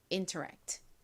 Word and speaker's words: interact: interact 발음 연습 같이 해 볼게요.